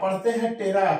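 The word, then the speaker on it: ptera: एक शब्द आता है टेरा लिखते हैं पटेरा पढ़ते हैं टेरा पी साइलेंट है इसका मतलब होता है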